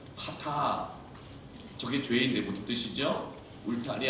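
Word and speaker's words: חטא: 그래서 저것이 H 발음, T 발음, 알렙 A 발음, 하타.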